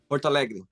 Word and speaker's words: Porto Alegre: Porto Alegre. Yeah, I pronounced it right, yeah.